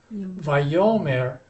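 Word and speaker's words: ויאמר: Yomar, the accent's on the last syllable. Vayomer, the accent has moved back a syllable.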